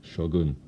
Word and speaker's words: Shogun: the heap this is the mighty Shogun or I should say Shogun in a proper Japanese pronunciation and Wow when I